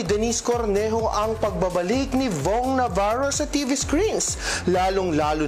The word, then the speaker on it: Vhong: Hashtag rhymes with wrong naman ang makahulugang caption ni Denise na kanyang shared post. Tila patama niya ito sa pangalan ni Vong Navarro na katunog ng salitang wrong.